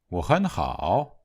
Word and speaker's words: 我很好: If we speak quickly, the first syllable will be on the rising tone, the middle syllable on the high tone, and the last syllable on the low tone. 我很好.